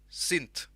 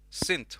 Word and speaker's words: synth: i say you know sint yes sint without the h and if you want